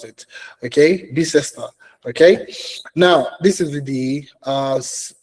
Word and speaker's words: Bicester: This is a cybersecurity analyst Bicester. That's, I'm pretty sure that's how they pronounce it. Okay, Bicester.